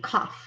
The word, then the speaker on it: cough: This word sounds like off, but with a C, cough.